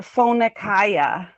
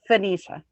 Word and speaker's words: Phoenicia: We called it Phoenica when I was growing up. But it's Phoenicia.